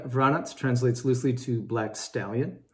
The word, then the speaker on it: Vranec: have the jordan of varanas as the grape is pronounced in macedonia it's also native to